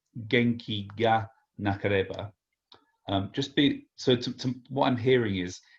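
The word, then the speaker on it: 元気がなければ: So actually, when Japanese people pronounce ga in this particular case, especially with a G, especially with this case of ga, it actually comes out a little bit nasally.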